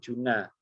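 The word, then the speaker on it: جُنَّة: Ya, kiai saya biasanya mencontohkan antara jannah, ya, kemudian jina dan juna. ya, jana surga, jina jin, juna itu perisai, ya. Jadi beda harokat itu akan menunjukkan juga beda makna.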